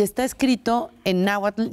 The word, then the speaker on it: náhuatl: Está mal porque lo estás pronunciando en español. Claro. Entonces yo siempre decía, para la gente que nos escucha, cuando digan náhuatl, pongan arriba de la T, arriba una L chiquitita. E imagínense el sonido de una L chiquita